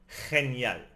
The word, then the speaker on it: genial: G before E or I is a scraping sound in the throat, like the J in jalapeno. For example, genial.